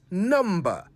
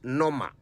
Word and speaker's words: number: So remember, it's number, not nomma. The B is not silent, not when you say it right.